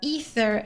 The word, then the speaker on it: Aether: Sometimes I say aether cuz I took the longest time for me to understand that it's called ether and not aether.